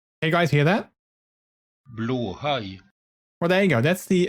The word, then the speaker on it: Blåhaj: Blåhaj. Well, there you go. That's I think that is a male from Sweden, so I'm pretty sure they know how to pronounce it.